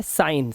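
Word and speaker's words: sign: बच्चे गलती करते हैं अब देखिए हमारा जी लेटर कब-कब साइलेंट होता है ध्यान से देखिएगा देखिए यहां पर वर्ड है क्या लिखा है साइन साइन मतलब क्या होता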